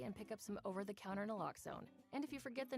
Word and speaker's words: naloxone: Reverses an opioid overdose, even if you mispronounce it. For the record, it's naloxone.